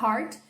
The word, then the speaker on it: heart: pensar na palavra hard e se você falar Heart eu nunca vou pensar na palavra forte existe